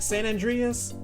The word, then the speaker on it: San Andreas: Uh, andre and I don't know how to pronounce this. Andrea, Andreas. St. San Andreas.